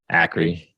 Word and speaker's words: Akre: Is it Acre or Akre? Akre.